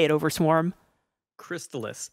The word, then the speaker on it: Crystalis: say it over swarm crystallus crystallus crystallus only crystallus it's like chrysalis just with a t i see so we